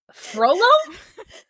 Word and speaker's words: Frollo: no, just you pronounce it differently than I've read it. Oh. How do you. Huh? Hang on, hang Froyo? on. Frollo?